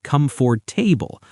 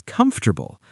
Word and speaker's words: comfortable: But the correct pronunciation is comfortable. It doesn't matter if you say it with a Brazilian accent or an Indian accent as long as the stress is on the first part.